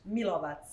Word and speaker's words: Milovac: How do you say Milovac? Milovac. Milovac. VAC, Milovac. Mother, India, Lima, Oscar, Victor, Alpha, Charlie.